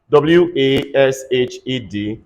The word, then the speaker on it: washed: all right that's matched the same thing as w-a-s-h-e-d everybody say washed stay washed so that is